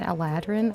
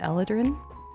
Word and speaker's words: Eladrin: so heroin is a Elin I think it's how I pronounce it other people pronounce it Aladin I don't pronounce it that way I pronounce it eladrin so that means that